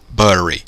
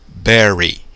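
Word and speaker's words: bury: que acontece a platts então aqui deve ser o que Buri na mas não é não a pronúncia com é tá então pelo certo Berry enterrar daí eu pego uma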